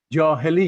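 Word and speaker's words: Jahiliyyah: era of dr barrett can you help me with this pronunciation there you go much better than i would have said it thank you so much is that right doctor by it one more time johali yeah that's correct okay so this is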